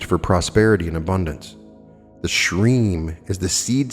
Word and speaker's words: shreem: prosperity and abundance the shreem is the seed sound for the principle of abundance shreem is actually pronounced shreem where you drag out the middle part to run for the duration of the breath the use of the